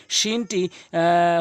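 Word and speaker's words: شين: জিম এরপর হচ্ছে হচ্ছে হলকের শেষ থেকে কিন্তু উচ্চারণ হবে এবং তিন আলিফ টেনে পড়বেন। এরপরে হচ্ছেশিন। শিনটি হচ্ছে জিহ্বার মাঝখান উপরে তালর সঙ্গে লাগাইয়াশিন।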